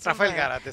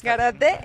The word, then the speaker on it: Rafael Gárate: Está con nosotros Rafael Garate, ¿cómo se pronuncia? Rafael Garate. Garate, que es director general de Luxury Premium and